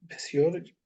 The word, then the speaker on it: physiology: Physiology.